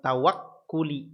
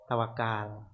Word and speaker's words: tawakkul: Amtsilatun, contohnya kas-salati was-siyami wal haji wat tawakkuli. Ya, kita terkenalnya apa? Tawakal. Ya, tawakal gitu ya. Tapi kalau diambil isi masdarnya bacanya tawakkul karena ikut wazan tafa'ala yatafa'alu tafa'ulan, tawakkala yatawakkalu tawakkulan.